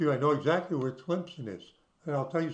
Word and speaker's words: Tlemcen: The Synagogue Durab you notice that I know how to pronounce it. Tlemcen.